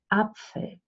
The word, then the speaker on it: Apfel: And you use it mostly when a word starts with a vowel. So you say Apfel, Apfel, Apfel.